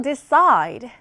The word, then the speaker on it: decide: 다음으로 decide. 얘는 뒷부분에 또 강세가 있네요.